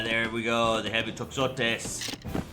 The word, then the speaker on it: toxotes: The heavy toxotes. I'm not sure if that X is pronounced like an X or a ch. Toxotes. I know that oftentimes in Greek, the X has a ch sound.